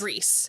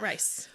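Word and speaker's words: Rhys: rice the whole time Reese not rice well I'm glad you told me because in the um darker shades of Magic World Ry RH y yes that's right that how you would pronounce his name yeah so I would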